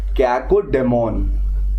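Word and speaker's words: cacodemon: ठीक है, कैकोडीमन या डेमोन जो भी आप बोलते हो, प्रोनाउंसिएशन हमारे लिए इतना मैटर नहीं करता एसएससी वालों के लिए, ठीक है, बट फिर भी पता होना चाहिए। कैकोडीमन बोलते हैं और डेमन भी बोलते हैं।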